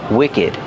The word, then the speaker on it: wicked: And we pronounce the ed like together. Wicked.